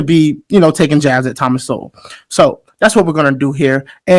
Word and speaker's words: Sowell: It's Thomas Sowell, not Sowell.